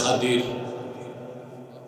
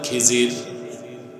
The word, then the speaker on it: খিজির: বান্দা তার নাম হযরতে খাদির। যারে আপনারা বলেন খিজির। উচ্চারণটা হচ্ছে খদির। উচ্চারণ কি? আপনারা ভুল বলেন খিজির কথা বুঝতেছেন আল্লাহ বললেন